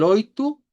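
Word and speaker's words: oito: Ahora el oitu hace rima con el cincu y con el cuatro porque terminan igual con una u.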